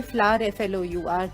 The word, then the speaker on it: flour: Flours spelled F-L-O-U-R, pronounced like fool फ्लावर, बट ये फ्लावर FLOUR जो है, ये फ्लावर का मतलब है आटा।